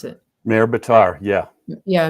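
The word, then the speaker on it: Maher Bitar: How do you pronounce it? Mayor Bitar, yeah. Yeah, Maher.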